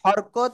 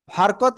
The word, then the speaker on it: হরকত: হারকাত বা হরকত, আপনি যেটাই বলেন সেটাই সঠিক। ঠিক আছে? হরকত, হারকাত, যাই বলেন তাই।